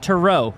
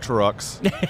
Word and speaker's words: Tereaux: co-founder CEO of uh Tero am I saying that right yes it is uh it is not Trux as it is often mispronounced it is definitely TR